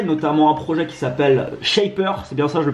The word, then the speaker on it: Shapr: monté différents projets notamment un projet qui s'appelle shapers ses personnages le prononce bien shaper qui permet de rencontrer des